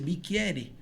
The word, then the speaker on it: bicchiere: Aí a pronúncia, eu falei, pô, mas é CC aqui a pronúncia, bicchiere. Aí em vez de o nosso Q, era o CC, a pronúncia muda muito.